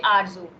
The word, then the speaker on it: Arzu: Okay, Arzu, am I pronouncing your name correctly? Yeah, you are pronouncing absolutely right. My name is Arzu, but some people think about this name is very different.